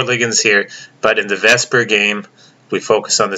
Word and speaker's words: VSEPR: electron pair repulsion theory vesper is how we pronounce it so the book wants